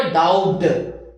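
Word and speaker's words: doubt: Agree, डाउट, अब ये नहीं बोलो डाउट, B silent, agree, डाउट, believe, differ, remember, forget, think, understand, ये 4-5 वर्ब है।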